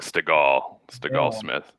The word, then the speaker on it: Stegall-Smith: It's like Stegosaurus, like Stegall-Smith.